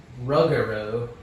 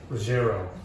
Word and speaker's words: Ruggero: Ruggero. Ruggiero. No. I said it right the first time. Ruggero.